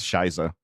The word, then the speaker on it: Shizo: It's pronounced Shiza.